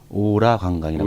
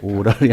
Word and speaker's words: 오라: 부품업, 그다음에 오라 관광, 발음 잘 하셔야 됩니다. 오라 관광이라고. 왜 발음 왜 어떻게? 오라이 아니라.